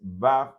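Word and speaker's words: ו: idioma hebreo afirman que la tercera letra que es va debería transliterarse mejor como v y no como w, ya que la letra va suena más como la vestidi español que como una w inglesa donde el sonido predominante es más como u.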